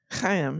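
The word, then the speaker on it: Chaim: Haim. Haim. Yeah. Ha. That's right. In that back of the throat.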